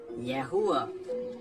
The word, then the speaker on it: Yahuwah: Yahuwah. Right, that's how it's said in Greek.